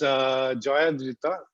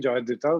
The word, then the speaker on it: Joyadrita: And joining us is Joyadrita, which is the Bengali way of pronouncing her name, Joyadrita, which would be the equivalent of if you're calling me. But now it's become more, and similarly, I think everyone knows Joyadrita as Joy.